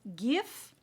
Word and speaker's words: GXVE: So today is an episode of a new just launched product, and this is from Gwen Stefani, the brand GXVE. That's how it is pronounced, but it's spelled GXVE.